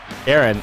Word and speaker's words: Aaron: And so, welcome to the show, Daurine Wehbe and Aaron, right? I said it right? Did I say it right? Yeah, okay. Aaron is how I should say it.